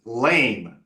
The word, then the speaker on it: lame: this there's lots of words another one is lame lame ass offer before you come back here